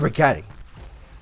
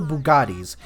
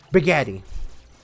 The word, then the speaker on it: Bugatti: off I hate it Bugatti Italian the guy who made it last name Bugatti I I I'm just disappointed in the fact that he can't pronounce it right buatti batti bagetti it sounds like a pasta yeah it sounds like